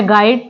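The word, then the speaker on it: guide: है वो साइलेंट है जैसे वर्ड है गाइड तो गाइड में भी यहां पर यू साइलेंट है नेक्स्ट वर्ड है टंग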